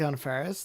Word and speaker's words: Anna Faris: matter and the worth of knowledge I like Anna Faris I like Anna Faris onna an affair on a ferris are saying her name wrong I like on Ferris this is our second out of folks who